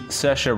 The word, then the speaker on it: Saoirse: Sally Hawkins in the shape of water and Saoirse Ronan in Lady Bird and yes that is